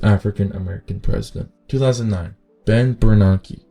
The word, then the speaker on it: Bernanke: 2009, Ben Bernanke. Bernanke.